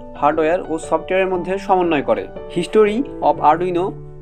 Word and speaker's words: Arduino: আরডুইনো 1002 থেকে 1014 পর্যন্ত ইতালির কিং ছিল। তবে আরডুইনো নামটা ইটালিয়ান, যার শেষে কিন্তু ও নাই, তবে আমরা ইংরেজি সুবিধার্থে আরডুইনো কিন্তু উচ্চারণ করি।